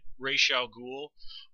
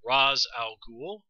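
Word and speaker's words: Ra's al Ghul: in this episode pronounces it as i did ray xiao ghoul while the other characters in the show tend to pronounce it raz al ghul so there it's canon that how his name is pronounced is not even consistent within the arrow universe um now i'm sure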